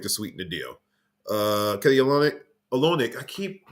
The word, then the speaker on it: Olynyk: Man, I keep getting his name wrong. Olynyk, I think that's how it's pronounced.